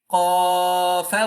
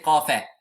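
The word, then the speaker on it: ق: Qafa wal Qur. You cannot say Qafa. You have to stop as Qaf.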